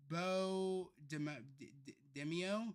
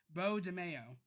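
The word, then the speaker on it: Beau DeMayo: Okay, so it's Bo Demio. Bo Demio. Oh, so it's Bo Demio or Bo Demo. Demio? DeMayo. DeMayo. Okay, so it's Bo DeMayo.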